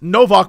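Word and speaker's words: Nowak: a different accent and in Poland it's it's no Vox but it's spelled n OWA K but the W's rvs in Poland no that's wild yeah that's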